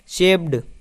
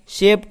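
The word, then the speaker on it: shaped: जाए तो कुछ लोग इसे शेप्ड पढ़ते हैं, शेप्ड। ठीक है, लेकिन इसका उच्चारण अलग होता है, इसका उच्चारण शेप्ड होता है।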